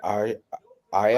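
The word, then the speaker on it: ají: How do you pronounce that, Nick? AJI. Is that Aya? Ahi? Ahi? Ahi? Yeah, ahi.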